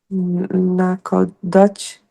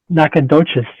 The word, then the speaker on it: Nacogdoches: Naco Dutch, Texas, Naco Dutch, Oh, whatever, Texas. Nacogdoches. Nacogdoches, sorry, Nacogdoches. I Yeah, killed that.